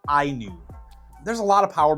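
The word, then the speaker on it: INIU: from a company that is spelled i n IU and uh they say that that is pronounced IU there's a lot of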